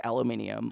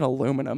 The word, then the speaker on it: aluminium: Hard aluminium. Like, America. Oh, we don't like that other syllable. Let's make it aluminum instead. No, but it's aluminium.